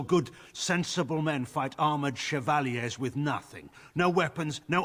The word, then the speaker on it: chevalier: and we deal with its consequences i mean chevalier is how you pronounce it that is correct that is the